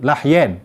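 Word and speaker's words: لحيين: Dua tulang dagu, lahyen, bukan lihyah. Di dalam kitab dijelaskan, kita baca di sini bil fathi atau bi fathil lam, dengan fathah lam dibacanya lahyen.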